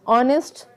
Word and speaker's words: honest: And C part is honest, honor, R, air. So what is the common thing there? H is silent.